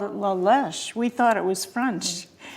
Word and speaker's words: La Leche: Could you pronounce it? No, we didn't know in the beginning. We called it La Leche.